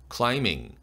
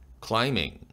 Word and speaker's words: climbing: climbing이란 단어 비철자가 묵음이 되죠. climbing, climbing.